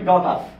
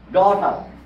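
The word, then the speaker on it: daughter: যেমন আপনি যদি বলেন ডি এ ইউ টি এইচ টি ই আর এটার উচ্চারণ হবে ডটার ডটার জি এর উচ্চারণ হবে না তাহলে এইচ এর আগে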